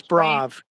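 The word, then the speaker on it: Sprave: Is it I don't how to pronounce the guy's name. Is it Sprag? George Sprav.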